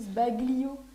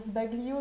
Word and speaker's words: sbaglio: Ça s'écrit aussi sbaglio. Et t'as envie de dire sbaglio, mais en fait, c'est sbaglio.